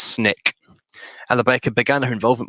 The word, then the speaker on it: SNCC: Conference, and the Student Nonviolent Coordinating Committee, SNCC, pronounced SNCC.